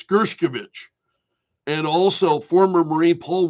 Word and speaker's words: Gershkovich: Street Journal reporter, even Gershkovich, and forgive me for mispronouncing his name, it's Gershkovich, and also former Marine Paul Whelan were released.